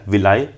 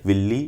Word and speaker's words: villi: तो सबको पता है यार, अगर तुमने थोड़ा सा भी चैप्टर पढ़ा है, इसको बोलते हैं VILLI, विलाई, विल्ली, ये जो बोलना है बोलो, स्पेलिंग याद रखना।